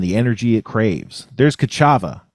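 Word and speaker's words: Ka'Chava: it needs and the energy it craves, there's Kachava.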